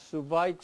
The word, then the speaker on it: Schweitzer: Now, among them, Di antara mereka, Albert Schweitzer. Albert Schweitzer, Now, in German, di dalam bahasa in Jerman, German language, W W pronounced diucapkan as V.